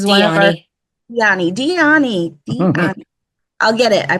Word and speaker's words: Dyani: Diana Dyani, I have to remember to say it correctly, It's is one of our Dyani.